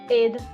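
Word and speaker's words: Eir: egg or whatever yeah a lot of people usually just pronounce my name is a but um I I do the Scandinavian version and it's Aid um yeah yeah Aid all righty well thank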